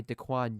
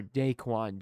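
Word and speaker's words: DaQuan: it's third and one stopped by dcoin Jones or dayquan Jones excuse me I wanted to get my pronunciation right I formation for the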